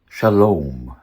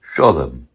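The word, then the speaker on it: שלום: Ancient Hebrew? Shalom. Modern Hebrew, Shalom. Yiddish, Sholem.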